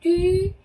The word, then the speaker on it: tu: 네, tu 발음 볼까요? tu는 입술을 입술을 한 상태에서 이 소리를 내는 표현이라고 그랬죠. 네, 그래서 tu 이렇게 한 번에 발음하셔야 되고요. 자, tu m'expliques.